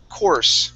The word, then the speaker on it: course: Yeah, so forget that U is there. Okay, the U doesn't do anything.